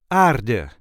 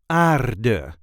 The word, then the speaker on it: aarde: This is the way we say aarde, aarde, aarde. There is a light emphasis on the first syllable, aarde, aarde, aarde. The article that goes with it is de aarde.